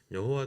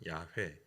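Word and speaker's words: 야훼: 여호와 가 된거예요 그리고 여호와 도 사실 더 정확한 발음이 아니 더 정확한 바르면 야외 가 더 정확한 발을 드세요 그러니까 이걸 이제 그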